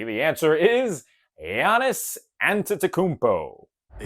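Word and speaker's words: Giannis Antetokounmpo: Bonus points if you can pronounce his name correctly. The answer is Yiannis Antakmpo.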